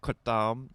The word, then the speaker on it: kratom: And I think the correct Thai pronunciation is kratom, but I will never say it like that.